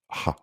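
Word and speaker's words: Х: X, en cyrillique, c'est l'alphabet russe, se prononce K. Ha.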